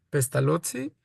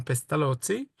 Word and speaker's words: Pestalozzi: y por eso e el apellido suena pestalotzi, pero nadie más que los italianos lo pronuncian así, pestalotzi, eh como pizza.